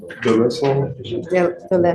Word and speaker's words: Delesline: How do you pronounce your last name? Delesline. I'm not going to play this game with you.